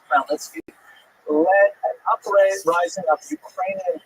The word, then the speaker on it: Khmelnytsky: this man, not Khmelnytsky, sometimes horribly mispronounced Chmielnicki, because that's the Polish spelling with an American pronunciation, but the actual pronunciation is Khmelnytsky, led an uprising of Ukrainian peasants against their Polish overlords.